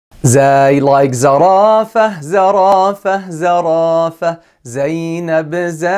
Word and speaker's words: زاي: pronounce this letter correctly, you need to keep your tongue inside and close your teeth and make a very tiny space between the teeth, like this.